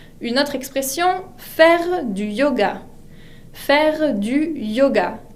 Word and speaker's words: yoga: Une autre expression, faire du yoga. Faire du yoga. La Y se pronuncia como una I latina. Yoga.